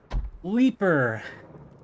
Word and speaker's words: Leaper: then obviously of course the new leaper rhymes with Reaper so that's that's any